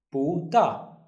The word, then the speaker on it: 不大: Now the second rule is, if we have two four tones, look at this one, 不大, the first one becomes the second tone. So it will be pronounced as 不大.